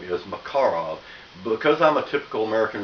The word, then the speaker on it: Makarov: in 9 by8 yes the correct way to pronounce the name is macarov because I'm a typical American redneck you probably are too I call it macarov everybody does so you can call it that